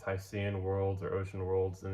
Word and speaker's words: Hycean: And it's Hycean worlds. It's spelled h y c e a n, which is a portmanteau. I think that's how you pronounce it of hydrogen and ocean.